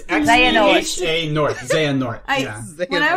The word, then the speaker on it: Xehanort: I thought his name was like Xenoheart. No, it's Xehanort.